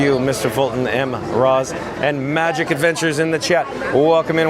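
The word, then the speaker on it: Majic Adventures: Magic Adventures, of course, is spelled MAJIC, and Adventures as normal.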